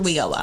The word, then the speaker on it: WIOA: We call it WIOA, so it's Workforce Innovation Opportunity That's okay, Act.